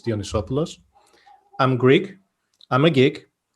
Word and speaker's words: Dionysopoulos: i'm going to do it for you it's dionysopoulos i'm greek i'm a geek i'm not a